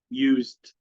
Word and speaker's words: used: s here الاس هنا نطقها زد، خلي بالك، غير الاس هنا نطقها اس. هنا الاس هنا اتنطقت زد. s here is z. This is why we see d instead of ed.